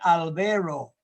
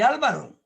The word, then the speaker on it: Álvaro: En Canadá no podían pronunciar mi nombre, me decían Albero. Otros me decían Albro. Otros me decían Alvar. En Japón me llamo Arúbaro. Pero soy Álvaro.